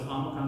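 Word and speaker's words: omicron: Now, amocrron. This one always frustrated me is omocrron. I wanted to say it like o. But the way I was taught it was amocrron is going to be a son. Amocrron is going to be a okay. Almost like father, right?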